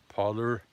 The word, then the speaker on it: Parler: I never took Twitter seriously because it's Twitter, but Parley is, or as the Americans say, Parler, is a very good platform.